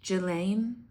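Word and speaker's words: Ghislaine: So, sh you're thinking of letting Jelene Maxwell out of prison. It's pronounced Gelain.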